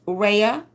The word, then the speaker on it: Rhea: It is pronounced Rhea, like tree. Okay, I know the A on the end of my name throws everyone off.